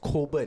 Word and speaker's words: Cockburn: Cockburn, Yeah. but it's pronounced Coburn.